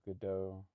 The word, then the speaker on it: Godot: It's called Godot, spelled like Godot, and it's pretty lightweight, and I think my machine will run it.